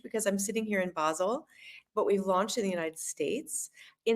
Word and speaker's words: Basel: in German language is Basel basil maybe basil but this is like basilicum right so you are a